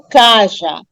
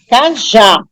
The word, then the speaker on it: cajá: Aí eu pronuncio CAJ Eu percebo que a última sílaba é tônica é mais forte cajá e não Caja cajá então já é a